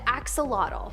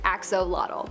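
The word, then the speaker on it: axolotl: spot, we have the axelottle. There is much speculation as to how to pronounce the name of this creature, but for the most part, most people believe that it is axolottle.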